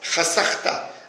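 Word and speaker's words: חָשַׂכְתָּ: C'est vrai qu'on le prononce chasachta avec sin, mais en fait il est écrit hashachta.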